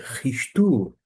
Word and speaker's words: Χριστοῦ: A pronúncia desta palavra que equivale a Cristo é ristu. Ristu. Observe que esse som aqui está na letra maiúscula, mas esse som é de um ch em alemão da qual eu adoto.